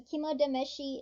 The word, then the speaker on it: kimodameshi: Now, Tameshi starts with a T, but when you pair it with Kimo, it turns into a D just to make it easier to say, because Kimo Tameshi is hard to say, so they change it to a D.